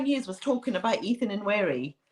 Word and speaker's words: Nwaneri: Nwaneri. Ethan Nwaneri, yeah.